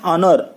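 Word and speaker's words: honour: एच है लेकिन इसका प्रोनाउंसिएशन ऑनर होता है.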